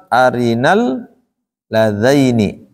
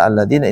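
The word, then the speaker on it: أرنا الذين: dibaca arinalladzina Nah hati-hati karena biasanya tulisan kayak gini tuh terbacanya alladina khatir pikiran kitanya ke alladina sehingga dibaca alladina Ini salah arinadaini kemudian juga yang kedua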